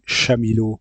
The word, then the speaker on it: Chamilo: commencer par un Learning Management System LMS appelé Chamilo. Je vais vous expliquer comment ça se prononce, pourquoi ça se prononce comme ça, les difficultés par rapport à ça. Donc c'est Chamilo en français, Chamilo dans les autres pays.